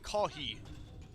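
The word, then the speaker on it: コーヒー: I do know that in Japanese you pronounce coffee like kohi.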